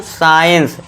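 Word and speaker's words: science: साइंस।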